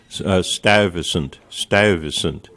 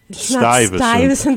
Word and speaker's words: Stuyvesant: The majority language to pronounce certain words, like in Dutch, you have a u, a uy, as in stuyvesant. It's not stuyvesant, the way but we it's say Stuyvesant.